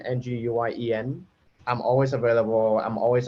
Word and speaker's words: Nguyen: It's spelled, and my last name is Nguyen, Nguyen.